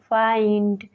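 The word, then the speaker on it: find: उच्चारण नहीं होता है रूल नंबर एट है जब आई के बाद एन डी या एल डी आए तो तब भी आई को आई से पढ़ते हैं for example माइंड फाइंड बाइंडेड में देख सकते हैं आई के बाद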